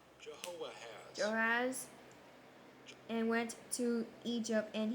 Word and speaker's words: Jehoahaz: Jehoiakim, and Pharaoh took How to pronounce Jehoahaz. Jehoahaz and went to Egypt, and he died there.